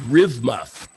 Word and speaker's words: RVMF: we used at cooper called rivmuf which is a corrupted pronunciation of an acronym rvmf which stands for rich